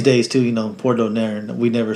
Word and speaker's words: Donaire: And they were, you know, it was always Donaire. And then even on the Spanish channels, they'll say it like that because that's how it's pronounced.